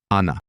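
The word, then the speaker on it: она: She, remember the masking of the letter o without stress? Yes, we pronounce it like ah. Anna.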